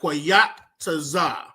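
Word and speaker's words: qayataza: So, number one on your paper under seasons, I want you to write quataza.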